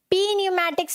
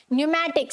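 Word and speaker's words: pneumatics: Then we have न्यूमैटिक्स, क्या है, न्यूमैटिक्स, पी न्यूमैटिक्स नहीं होता, क्या होता है, न्यूमैटिक्स, एन से पहले का पी साइलेंट, फाइन।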